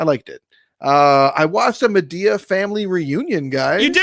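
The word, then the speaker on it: Madea: One is it's pronounced Medea, not Medea, and two is like it's heavy drama.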